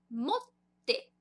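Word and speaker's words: もって: Então, esse chisaitsu, 2 t's, ele vai dar uma paradinha na nossa pronúncia. Então, vai ficar motte. Motte. Tá vendo que tem uma paradinha ali?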